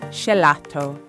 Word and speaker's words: gelato: Schelato. That's the way the average Viennese would pronounce the Italian word for ice cream, gelato.